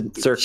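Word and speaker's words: Tzurki: It's hard to pronounce. I've been thinking about changing it, but it's like it's similar to Tzatziki, but to Zurki.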